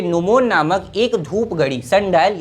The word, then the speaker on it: gnomon: तो जो अनेक्सिमेंडर थे ये नोमोन नामक एक धूप घड़ी, सनडायल यानी कि धूप घड़ी, नोमोन नामक GNOMON, जी साइलेंट है, नोमोन नामक एक धूप